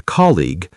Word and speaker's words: colleague: I helped a colleague. I spoke with a client. Excellent recap. Now let's practice pronunciation of some tricky workrelated words. Great idea. Repeat after us. Colleague. Call e two syllables means coworker.